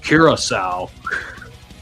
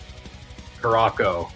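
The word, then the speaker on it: Curaçao: This is pronounced Kiraasau because the guy that announced the country when it was drawn said Caracco just like me.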